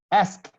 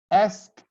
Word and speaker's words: asked: only pronounce t he asked asked ask he asked me a question you don't pronounce the e D you write it but the sound is t he asked me a